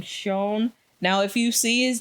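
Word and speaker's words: Xion: easily and then we have the mock name shown now if you see his name written it's spelled x-i-o-n but apparently especially in Korean it's Pro is supposed to be pronounced shown so just to let y'all know because it's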